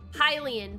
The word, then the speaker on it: Hylian: joke, which is the Hylian part. Highly unlikely, highly unlikely, H-I-G-H-L-Y space likely, but then it's spelled H-Y-L-I-A-N, Hylian, because he's a high.